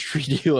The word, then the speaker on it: Trudeau: How many hours do Canadians research Trudeau a week? Or how do you say that? I said Trudeau. Trudeau. Trudeau. Trudeau. No, Trudeau, like dough.